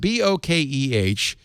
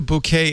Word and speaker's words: bokeh: Bokeh. In Japanese, the word is properly pronounced bouquet.